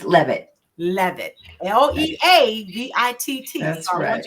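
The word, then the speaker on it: Leavitt: think so so with me is joining pronounce your last name for me again it's love it love it l-e-a-b-i-t-t that's what you define her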